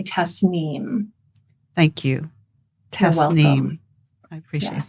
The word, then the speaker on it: Tasnim: repr pronounce my name it's an Arabic word that often gets mispronounced and it's important because the vibration I think our name is so important of who we are and so it's actually Tess neem thank you Tess I